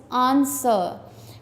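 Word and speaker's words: answer: Underline the silent letters आंसर।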